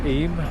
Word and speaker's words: Eyam: So take a right here, Chapel en Firth and Eyam, pronounced Eyam.